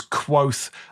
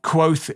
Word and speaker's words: Kvothe: This story follows Quoth. Quoth is spelt Kvothe, I think.